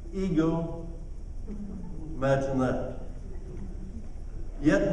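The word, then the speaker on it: ἐγώ: did you know that that word i that he uses there is pronounced in the greek ego imagine that yet not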